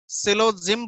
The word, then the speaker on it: syllogism: SILOGYM, सिलोजिम बोलते हैं इसको, एस साइलेंट होता है।